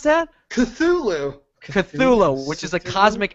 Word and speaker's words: Cthulhu: How do you pronounce that? Cthulhu.